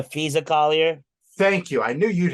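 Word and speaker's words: Napheesa Collier: but Brianna Stewart and not she not Shia Collier are founding a United States off-season women's basketball league you mean the fisa Collier thank you I knew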